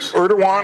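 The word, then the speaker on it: Erdoğan: Erdogan is how you pronounce the president there.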